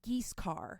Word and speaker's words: Guiscard: This is Giscard. It's spelled Guiscard. Okay. It's pronounced Giscard.